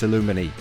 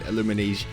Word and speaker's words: Aluminij: J is silent it's illuminae so we've been saying illuminese the whole time the J is silent so to see yeah